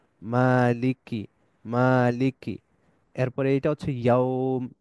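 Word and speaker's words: مَالِكِ: এরপরে খাড়া জবর আছে মানে মা এক আলিফ লম্বা হবে মা মালিক লামের নিচে জের আছে কাসরা আছে মালিকি আবার কাফের নিচেও কাসরা আছে মালিকি মালিকি মালিকি এরপরে এইটা হচ্ছে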